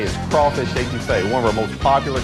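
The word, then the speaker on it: étouffée: Sometimes a person's first visit here can be a little challenging on Cajun pronunciation. I want some etouffee, crawdads. What Bubba's trying to say is crawfish etouffee, one of our most popular Cajun dishes.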